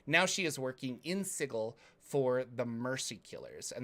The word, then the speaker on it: Sigil: uh reading chat yeah it's not pronounced uh sigil let's pronounce sigel sorry i can send